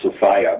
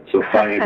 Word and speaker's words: Sophia: That's why I use the word Sophia, because it rhymes with desire. It's kind of a little Gnostic joke of mine. Sophia desire.